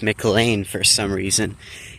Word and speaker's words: McLean: I hope you enjoyed this short educational video about the uh MLAN mounts that are spelled Mlean but pronounced Mlane for some reason.